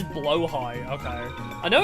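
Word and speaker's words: Blåhaj: Oh, it's pronounced blowh high. I could never figure it out. I've heard it so many different ways. I've seen it like pronounced so many different variants, but never really know. So, it is blowh high.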